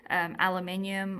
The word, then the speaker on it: aluminium: Atmospheric aerosol injection, and they were using things like aluminium, or you over there Americans say aluminum, to reflect the sun's rays back so that we have reduced amount of energy from our glorious sun.